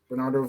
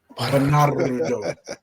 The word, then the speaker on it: Bernardo: Yeah, but his real name is You ain't roll your R's though. Bernardo. Bernardo.